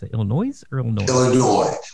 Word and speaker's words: Illinois: Illinois, without pronouncing the S.